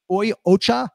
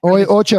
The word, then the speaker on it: Oi Ocha: How do you pronounce the name of the company? It's Oi Ocha. Oi Ocha.